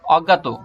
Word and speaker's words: অজ্ঞাত: অজ্ঞাত, অজ্ঞাত, অজ্ঞাত, সঠিক উচ্চারণ অজ্ঞাত।